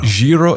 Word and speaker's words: gyro: Jiro, is that how you say it?